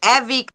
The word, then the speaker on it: Evie: e or E well we say it Evie it's short for Evelyn that's why we started